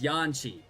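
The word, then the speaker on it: Yanxia: Okay, so it's Yanshi. Yanshi. That's how they pronounced it.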